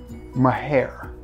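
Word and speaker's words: Maahir: I'm gonna recommend that you get Latafa's Mahair. It's spelled M-A-A-H-I-R. Mahair? That's the only way that could be pronounced, right?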